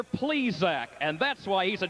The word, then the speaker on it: Plesac: please correct your pronunciation he's named obviously for the baseball man mister please Zack and that's why he's